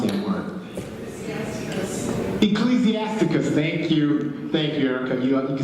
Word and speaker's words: Ecclesiasticus: So if you've got a friend of yours that's reading, I can never pronounce that word. Ecclesiasticus. Thank you, Erica. You can see I need help. Ecclesiasticus.